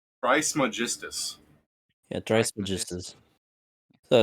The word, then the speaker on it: Trismegistus: Pronunciation. Who? Trismegistus. Oh, he's Trismegistus.